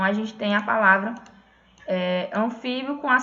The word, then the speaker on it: anfíbio: Ó, esse bio aqui, ele é pronunciado todo junto. Anfíbio. Certo? Quando a gente fala, a gente não fala anfíbio. A gente fala anfíbio.